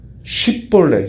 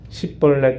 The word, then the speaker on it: 쉽볼렛: 그러면은 이 에브라임 사람들은 쉽이라는 발음을 못하고 십볼렛 이렇게 발음을 한다는 거예요.